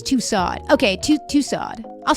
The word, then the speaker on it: Tussauds: In Tussauds. Like that? Like Russo, but with a D that is not pronounced.